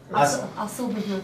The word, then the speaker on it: Asil Bubu: Asil Bubu. Asil Bubu. Okay, oh, it's spelled exactly as it sounds.